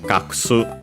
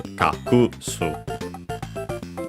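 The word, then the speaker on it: 隠す: Technically, the first U, the one in ku, would be barely heard, if at all, being between voiced consonants. And with that, technically, the accent could move. My guess would be to the previous consonant if pronounced barely heard, or even more so, if at all. So, kaksu. But there could be also those pronouncing simply as kakusu. So, on the ku as intended.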